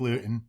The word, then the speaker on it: Luton: up and disappeared hey say his name correctly it's highfalutin jake luth hi flute and jake lewton yeah trademark that like